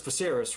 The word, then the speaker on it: Viserys: now and even i'm pretty sure it's viserys right that's how you say his name he wouldn't go he